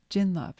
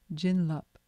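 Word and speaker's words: jinlab: of your grace because the tibetan word for blessings or waves of grace is another way of saying it is chinlup jinlop you can spell it j-i-n-l-a-b jin lup and chin means blessings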